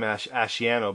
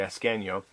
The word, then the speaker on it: Ascanio: I used to say for the longest time Asciano, but it's actually Ascanio.